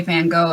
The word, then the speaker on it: Van Gogh: So hmm Um, I mean, if you think about things like Van Gogh, aka Van Gogh, as most Americans pronounce it, he did a lot of work on like cardboard and shit like that because he was poor.